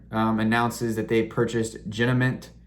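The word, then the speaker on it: Genamint: announces that they purchased jinament i believe that's how you say it g-e-n-a-m-i-n-t jenna mint it's an ai computer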